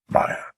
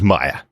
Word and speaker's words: Maya: Kingpin does pronounce it correctly. Maya. So that's how we should be pronouncing it. Maya.